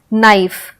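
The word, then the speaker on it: knife: हैं के की तो ऐसे वर्ड्स जहां पे के साइलेंट है जैसे नाइफ तो नाइफ सुनोगे तो लगेगा कि एन से स्टार्ट हो रहा है नाइफ क्योंकि हम क नाइफ तो नहीं बोल रहे हैं के साइलेंट है नाइफ यानी एन का उच्चारण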